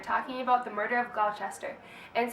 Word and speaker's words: Gloucester: They are both sons of a man named Did we ever decide how his name is pronounced? Gloucester. For purposes of this video, it'll be Gloucester. Read it as you will, but we're going to call him Gloucester.